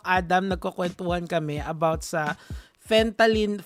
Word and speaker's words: fentanyl: Nagkukwentuhan kami about sa fentanyl. How do you pronounce it, Doc?